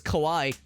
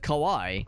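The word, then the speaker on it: Kauai: up alth he says Hawaii then he says Kawai it's funny you say that because the island that Grace and I have visited when we went to Hawaii is the island of Kawai it's spelled k a u a I so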